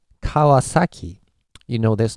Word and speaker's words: Kawasaki: this one for example so how do you pronounce this as in English so let's say volume or intensity okay pitch I believe you would go kawasaki so you always put accent on each syllables right so Kawa sake